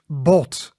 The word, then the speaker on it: bot: So that is bot. Bot. And bot means bone. So as in hot but shorter.